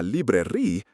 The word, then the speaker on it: librairie: If you were to ask a local, où est la librairie, pronounced où est la librairie, you'd be pointing yourself in the wrong direction entirely. While it sounds exactly like library, a librairie in French